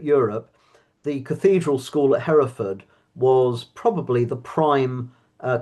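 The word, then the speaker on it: Hereford: Do you call it Harford or Hford or how do you pronounce it? Heraford.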